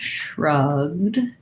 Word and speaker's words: shrugged: sh in this word one tip would be to start with the r um just like in the word rug we have vowel schwa sounds like uh start with the r rug and then add your sh rug shrug and what you should